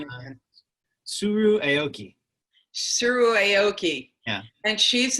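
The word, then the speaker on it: Tsuru Aoki: Help me pronounce her name again. Suru Aoki.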